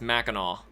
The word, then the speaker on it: Mackinac: thinking of but uh Mackinac it's spelled Macan AK but it's Mackinac it just is there's um gosh Louisville